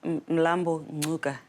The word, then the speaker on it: Mlambo-Ngcuka: You said in South Africa there's a pronunciation that I missed. What is it? Yeah, Mlambo-Ngcuka. Ngcuka. It's the language that is spoken in the Black Panther film. It's Xhosa.